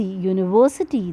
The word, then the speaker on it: university: You can see university, though starts with U, that's a vowel, but the pronunciation comes as Y.